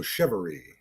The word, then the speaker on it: Chevarie: of you uh it's it's a lot like chivalry so it's pronounced that way so chivalry okay on tonight in fact it's almost shivery I kind of like